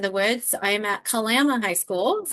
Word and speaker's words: Kalama: I am at Kalama High School.